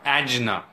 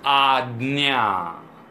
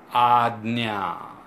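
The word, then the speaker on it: Ajna: and a and I have seen many people pronounce it as angina it is nowhere close to whatever a Gina is I don't know what it is it's odd Nia odd Nia so odd Nia chakra and last one is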